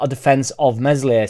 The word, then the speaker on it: Meslier: not a defense of Mesley silent s i don't can nobody